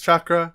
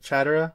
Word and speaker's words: chakra: about the basics uh naruto mispronounces chakra he calls it chatura which kona haru imagines